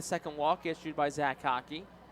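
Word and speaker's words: Haake: Hockey spelled H-A-A-K-E. Hickey H-I-C-K-E-Y. So hockey not spelled like hockey puck. It's spelled completely different. Just pronounced that way.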